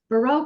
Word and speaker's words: Barrell: Alrighty, well, welcome everyone officially to tonight's tasting with Barrell Craft Spirits. I know it's technically pronounced barrel, but it sounds fancy in French when I put an accent on it, and it avoids the whole like who's on first joke.